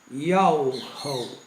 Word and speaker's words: Yahweh: A pronúncia verdadeira do nome do Altíssimo é Yahweh, e só esse nome salva.